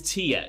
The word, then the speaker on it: Tyr: off the line is Tia if you have the subtitles on the way it's written is just tyr without the accent on the Y I think it is